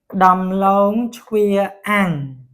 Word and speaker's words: ដំឡូងជ្វា: ដំឡូងជ្វាអាំង to mean roasted sweet potatoes.